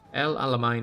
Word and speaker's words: El Alamein: El Alamein is pronounced like main for the last syllable. Then why is there an E there?